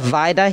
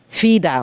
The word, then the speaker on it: Vida: wrong he called me instead of vida he called me fida or with an f vida or something i